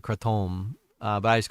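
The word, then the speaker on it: kratom: Uh and that's how you actually pronounce it. Crettom.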